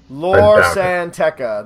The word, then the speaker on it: Lor San Tekka: Lor San Tekka.